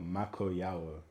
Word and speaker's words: Makoyawo: I would say the best way to always pronounce my name is literally pronounced how it's spelled. Makoyawo.